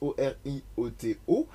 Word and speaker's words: Orioto: que vous retrouvez sur Orioto, @Orioto sur tous les réseaux des internets, et ça tombe très bien parce que ça s'écrit comme ça se prononce, Orioto.